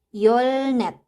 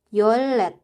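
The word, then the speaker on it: 열넷: Yang keempat ada yolnet. Yolnet, bacim real ketemu dengan bacim real bertemu dengan huruf nien. Jadi huruf niennya ini berubah menjadi huruf real. Jadinya adalah yolet. Yolnet sama yolet.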